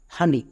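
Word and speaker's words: honey: আবার দুটো এক্সাম্পল দেখো, যেমন আওয়ার, হানি। দুটোই ওয়ার্ডে এইচ আছে, তাহলে এইচ কোথায় সাইলেন্ট?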